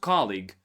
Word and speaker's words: colleague: Now about colleague. Colleague comes from the word league. You have it on the list too. It's like the person from the same league.